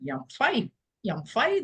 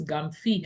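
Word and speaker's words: Gyamfi: I pronounced it incorrectly, but that's how it's pronounced here because it's a clan name. It's a Maroon clan name, Yamfai. And he said, no, it's Gamfi.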